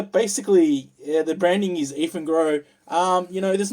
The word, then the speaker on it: Eafengrow: So basically, this is a Eafengrow. It's spelled E-A-F-E-N Grow.